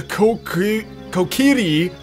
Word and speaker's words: Kokiri: hyrule for so long the kokiri is how it's properly pronounced but i i prefer kokiri forest the source of